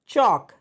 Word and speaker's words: chalk: इसमें एल हमारा क्या है, साइलेंट है, इसलिए इसको क्या पढ़ेंगे, चॉक।